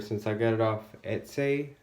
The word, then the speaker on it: Etsy: I got it off Etsy. I think is how you pronounce it on the internet. Etsy, E-T-S-Y, Etsy. I'm not sure.